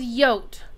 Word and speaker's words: yote: And he came up with yote, to rhyme with smote.